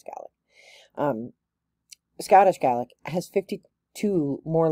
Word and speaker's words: Gaelic: Sometimes people pronounce it Gaelic, but it's Gaelic.